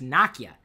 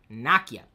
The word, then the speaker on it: Nokia: because Nokia makes it I'm sorry it's Nakia if you listen to some of the videos they produce Naka is how you say that that that that name that word Naka and if you keep